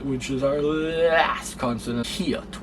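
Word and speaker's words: 히읗: And then next, which is our last consonant, hiot, which is pronounced like an H sound in English.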